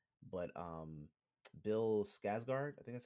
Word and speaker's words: Skarsgård: Um, I always mess up his last name, but Bill Skarsgård, I think that's how you pronounce his last name. Skarsgård, yeah, yeah.